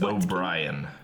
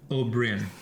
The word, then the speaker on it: Oberyn: Of Prince O'Brien. Oberyn. Oberyn. Yeah. That's actually correct.